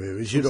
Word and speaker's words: Girona: Oui, Girona. C'est ça qu'on prononce. Voilà.